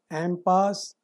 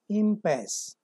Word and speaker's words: impasse: Correct pronunciation of this word, impasse or impasse, both are correct.